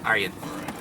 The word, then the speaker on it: Arjen: It's how you pronounce his name in Dutch, because the J. But you know, Arjen is his first name. Arjen.